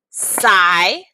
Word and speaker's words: silent: know that silent, if I clap it out, has 2 syllables. Where do I divide that? Well, I divide it after the I. So I have silent. Those are my syllables. The sigh part is what we call an open syllable, which means that there is no letter after it.